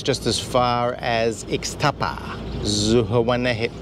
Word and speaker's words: Zihuatanejo: This trip is just as far as Ixtapa, Zihuatanejo. How do you say it? Zihuatanejo.